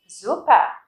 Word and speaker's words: super: Thứ nhất, super, danke. Super, danke. Super, các bạn đọc chữ U dài chứ không phải là super.